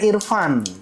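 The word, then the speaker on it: EarFun: Ya, bacanya Irfan. tetap saja Irfan.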